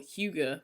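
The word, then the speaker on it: hygge: okay it's h-u-e-g-u-h and that's how you pronounce the the danish and norwegian term which is h-y-g-g-e and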